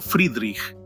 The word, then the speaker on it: Friedrich: Según el antiguo alfabeto fonético alemán, la F se pronunciaba como Friedrich, mientras que en el alfabeto de la OTAN actual correspondería a Foxtrot.